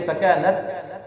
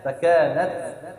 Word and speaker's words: فكانت: অনেকে হামজ করতে গিয়ে ফাকানাত এরকম সিনের মতো আওয়াজ উচ্চারণ করে এটা ভুল ফাকানাত এটা ভুল সঠিক উচ্চারণটা কি ফাকানাত খুব হালকা বাতাস বের হবে হ্যাঁ ফাকানাত আবওয়াবা কেমন